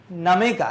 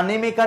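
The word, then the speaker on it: Nnaemeka: अब देखिए नमेका ना, ननेमेका नहीं बोलना, यहाँ पे एन साइलेंट जाएगा ना, नमेका बोलना है।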